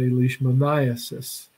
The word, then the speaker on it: leishmaniasis: the condition called leishmaniasis you simply shift your emphasis in the word citizen Leishmania cysts you say leishmaniasis now the vector that